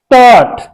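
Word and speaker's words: taught: been इसे हम पढ़ेंगे जी एच साइलेंट रहेगी इसमें इसे हम पढ़ेंगे क्या टट क्या पढ़ेंगे ट ट इस तरह से टट जी एच इसमें साइलेंट रहेगी इन क्लास द सेम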